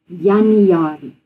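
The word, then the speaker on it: Januarie: In Afrikaans we say January because the J sound is a Y, it's not a J.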